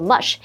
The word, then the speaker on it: mush: Hello，大家好，我是 Hanny。我们在第一天课文读到，摩西打死了一名欺负希伯来人的埃及人。那后来他逃到沙漠，放弃王子的生活。在逃离埃及之后，摩西成为牧羊人，在沙漠中漂泊了40年，直到他发现一件令人难以置信的事，他看到燃烧的灌木丛竟然没有被火焰烧毁。接着他还听到上帝的声音，告诉他要去拯救在埃及的希伯来人，带领他们前往应许之地。文中的 promised land 就表示应许之地，也就是圣经当中上帝赐给亚伯拉罕和他族人的土地。好，单字 incredible 它是形容令人难以置信的，或是形容惊人的、极好的。我们去掉字首 in 变成 credible，那就可以形容是可信的、可靠的。下一个单字 consume 这个动词它表示烧毁、毁灭或者是消耗、用完，它还可以表达吃喝的意思。这时候 Sam 老师用到 devour 这个字 devour 这个动词可以表达吞食或狼吞虎咽。那还有讲到这个咬食物它变成那种烂烂的状态嘛，老师用到 mush 或是念作 mush M-U-S-H 这个名词就表示软糊状食物或者是糊状的东西。介华课文中 So after hearing this from the